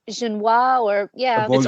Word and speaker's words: Auberjonois: Auberjonois. Aborigine, I think that's how you pronounce it. Auberginois, or yeah.